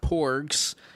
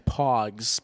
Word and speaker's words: Pogs: They were called like Pogs or something. I don't really know what that means. Not Porgs from Star Wars The Last Jedi. Pogs, P-O-G-S, I believe, is what they were called.